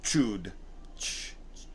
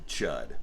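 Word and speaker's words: Chüd: ritual of Bud the Chud. Okay, that's how it reads in the book. Although it has an umlaut over it, so I think it would be pronounced chewed, but I don't care.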